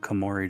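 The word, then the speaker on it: Koumori: They kind of ripped off the face of Kamori Dragon from Yu-Gi-Oh for that. Did they? Yeah. Look up Kamorei Dragon.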